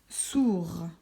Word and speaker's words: sourd: On peut faire avec un dernier exemple, avec le mot sourd. À la fin du mot sourd, on met un D. Est-ce qu'on l'entend quand il est au masculin? Non.